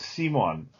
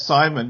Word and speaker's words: Simon: she gave me was simon s-i-m-o-n which is the dutch way to pronounce the word simon and when i was